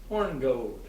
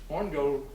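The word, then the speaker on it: Hornigold: was a man named horngold and it's spelled horn eye gold so but i'm not going to say horny gold the corner horn gold was another early pirate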